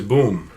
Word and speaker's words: Bomm: Belgian Malinois and he's uh his name is Boom it's it's spelled b-o-m-m because that's the name he came